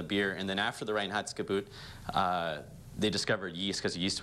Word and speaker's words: Reinheitsgebot: I'm going to mispronounce it. Reinheitsgebot. Did I say that right? Reinheitsgebot, yes. Yeah, Reinheitsgebot.